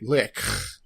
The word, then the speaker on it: lich: was turned into a lick yep we discovered that's the proper pronunciation of the word Lich is lick yeah you have to